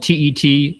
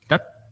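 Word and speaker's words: Tết: It's spelled T-E-T, it's not tet, it's that, right? You have to pull back on your tongue to say it right.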